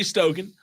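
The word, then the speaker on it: Stokan: Gary Stoken of the Peach Bowl.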